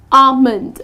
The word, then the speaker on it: almond: The correct pronunciation is almond Ah-mund , so the L is silent.